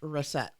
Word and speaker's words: Racette: Last name Racette. And it's pronounced Reset.